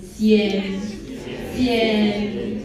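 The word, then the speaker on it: sian: So, the first word is going to be called cien, which is s i a n cen.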